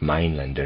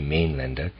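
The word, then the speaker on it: Mainländer: loud n d r I'm pronouncing it m lender it might be main lender sees himself confronted by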